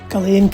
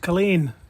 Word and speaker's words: Culzean: And yes, it's pronounced Culzean, not Culzean.